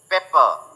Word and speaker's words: pepper: सो you will pronounce this word as paper, paper, ध्यान से सुनो, and this word is pronounced as pepper, पे, पे, हिंदी में लिख देता हूं।